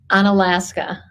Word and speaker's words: Unalaska: business, not too far away, how do you pronounce it? Unalaska.